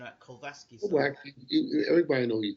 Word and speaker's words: Glowacki: Or Glowacki, I've got to keep pronouncing that. Glowacki.